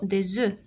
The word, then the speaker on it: des œufs: قلنا في pluriel ما كنطقوش الاف، كنقولوا des œufs.